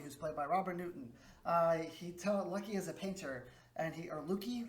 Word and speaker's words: Lukey: Lucky is a painter, and Lucky, it's spelled Lukey. So Lukey is a painter, and